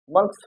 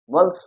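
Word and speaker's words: months: इसको एक साथ अगर कहा जाए तो इसका उच्चारण क्या होगा मंथ्स हो जाएगा क्या हो जाएगा मंथ्स हो जाएगा इसी तरीका से यहां देखिए वेल्थ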